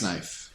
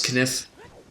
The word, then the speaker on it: knife: The giant's knife. That's what it's called. The giant's kniff? Listen here, you little shit. Yes? It's pronounced knife. The K is silent.